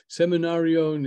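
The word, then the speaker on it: סמינריון: Seminarion is how you say seminar in Hebrew.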